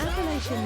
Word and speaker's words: Appalachia: Appalachian Nomad says I pronounce it with a CH and not shush.